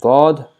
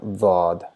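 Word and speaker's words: ضاد: And we have Daad, which is written same as Saad, but our side of the or side blades of our tongue are touching the molars, the grinding teeth, and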